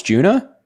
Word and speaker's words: Joanna: My name is Joanna. Rhymes with tuna. Juna? Oh, it's Juna?